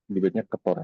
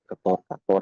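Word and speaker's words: Ktor: Yang pertama ada, ya ini dibacanya Ketor aja biar cepet Ketor atau apapun lah senyamannya.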